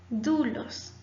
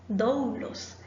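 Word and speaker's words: δοῦλος: Ho doulos. El esclavo. Probablemente ustedes ya hayan escuchado esta palabra o la hayan usado en alguna prédica. Ho doulos. Recuerde, no doulos, porque nuestro diptongo omicron upsil se lee u.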